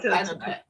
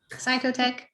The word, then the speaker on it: Cytotec: Cytotec. CY. CYTOEC. okay. A good way to remember is I don't really want to drink the psycho soup, right? Cytotec and misoprostol.